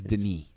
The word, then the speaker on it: Denis: I found out how his first name is pronounced. It's Denis. Denis? Okay. Denis Villeneuve.